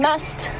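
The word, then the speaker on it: musth: an elephant bow and must for those of you unfamiliar with the terminology we using to spell it it is m u s t h must but it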